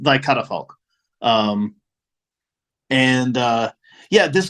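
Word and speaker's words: Thy Catafalque: wrong for years uh apparently it's it's pronounced thy cut a folk um and uh yeah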